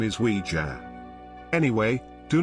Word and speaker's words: Ouija: and German J both means yes most people pronounce it wrongly as wi G but the correct name is wij anyway do not use the OU J board